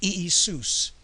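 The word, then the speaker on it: Ἰησοῦς: So Jesus had a Greek name, let's get it straight, and it was Iesous in modern Greek pronunciation.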